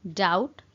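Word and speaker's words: doubt: मु तुमको संदेह करे आ कहती आई डाउट यू, आई डाउट यू। ये गोटे जिनसे नोटिस करेंगे फ्रेंड्स बी अच्छी बट बीटा प्रोनाउंस कला बेले साइलेंट हो जाए तो से आम पढ़ू डाउट, डाउट।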